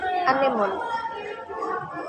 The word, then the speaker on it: anemone: Next, there anemone. Divide anemone in syllable is a, name, o, and name. There, the word from anemone have four syllables. Stress syllable is name, and for the last is explicit.